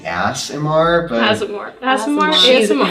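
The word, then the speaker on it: Aasimar: ASMR? An ASMR. ASMR? Asimar. Oh, I've been pronouncing it ASMR this I whole have- time and no one has called me it before.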